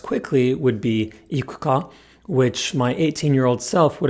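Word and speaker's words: 行くか: But it's not true, which is why the phrase wanna go, said quickly, is not ikuka, but ikuka. Note the difference. Wrong. Ikuka. Right. Ikuka.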